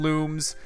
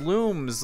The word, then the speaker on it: Lums: the topic said us pronounced looms like luminescence uh because they shine